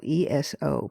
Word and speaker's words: ESO: Then there's the pill can, ESO, E-S-O, pronounced ESO, recently cleared by the FDA.